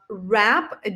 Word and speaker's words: wrap: the word wrap uh rap W is also silent here just like in the word wreath right so you see